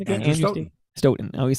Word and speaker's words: Stoughton: Andrew Stoughton. I always say Stoughton, yes.